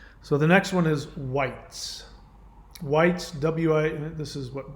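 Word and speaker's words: wight: a nature spirit uh it's pronounced white now the word white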